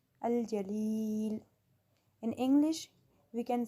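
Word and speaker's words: الجليل: Pronounce this name with me, Al-Jalil, Al-Jalil.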